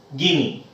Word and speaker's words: Guinea: equator gulf of guinea even though we write guinea but we have to pronounce as guinea so this is gulf